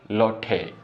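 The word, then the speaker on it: loathe: और क्या है ये, लोठे, ठीक है। इसमें शायद एच ही साइलेंट रहेगा, ठीक है, लॉट ऑफ कर सकते हो आप इसको, समझ रहे हो इस चीज़ को।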